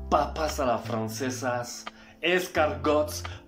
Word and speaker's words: escargot: Y no es crepes, croissants, papas a la francesas, escargots. Primero que nada de eso se pronuncia así. O sea, se dice croissant, crepe, escargot.